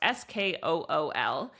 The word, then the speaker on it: Skool: It's pronounced Skool.